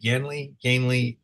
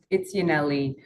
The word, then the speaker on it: Yaneli: I pronounce it incorrectly, Yanley, is that correct first time? Yes, it's Yaneli.